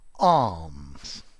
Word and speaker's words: alms: Alms. So notice the pronunciation. Sounds exactly like arms, but it's spelt differently. A-L-M-S.